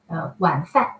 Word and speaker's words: 晚饭: W totally equals U. All right. This is not a V. We don't have a V sound.